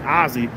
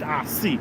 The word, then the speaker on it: Ossie: It's not actually Ozzy. It's pronounced Ozzy.